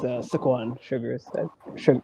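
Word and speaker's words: Saquon Shugars: Okay, with Adriana Rizzo versus Dark State, Don Lennox, Cutler James, Saquan Sugars or Sugar or however you pronounce it and or Osiris Griffin. Yeah, it's it's it's Squan Sugar. Yeah, Sugar.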